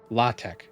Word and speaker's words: LaTeX: Um it's spelled latex but it's pronounced latte I believe. Is it latte or latte? It's not pronounced the way it's spelled.